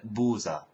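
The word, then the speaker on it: بوظة: ice cream is BU it's spelled bu but it's said buza the becomes a z buza and that's very common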